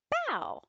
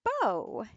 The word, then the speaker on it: bao: illustrated by Charlene chah let's begin bow is pronounced bow not like bow you can see this Kitty's wear in a